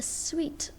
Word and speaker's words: suite: stack of chairs a suite of rooms remember you have to pronounce it as sweet not suit it means a collection